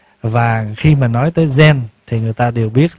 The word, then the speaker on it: Zen: Thì người Hoa đọc là Chan. Người Nhật á, đọc là Zen.